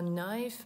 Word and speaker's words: knife: Ось ще увага на вимову слова knife. Ми не вимовляємо літеру K.